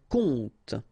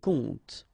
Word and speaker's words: compte: And the first one is un compte. Un compte. And here you will have the translation. Un conte. So exactly the same pronunciation, but then of course the meaning is different.